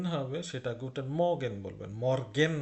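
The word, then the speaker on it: Morgen: সেটা Guten মর্গেন বলবেন মর্গেন না কিন্তু মর্গেন জার্মানিতে আর এর উচ্চারণ নাই বললেই চলে বিশেষ করে মাঝখানে নাই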